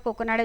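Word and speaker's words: Kakinada: एंड ये बना था काकीनाडा, आंध्र प्रदेश, उसी को इसलिए कोकोनाडा बोला है, ठीक है। उस टाइम उसका प्रोनाउंसिएशन उस तरह से हुआ करता था।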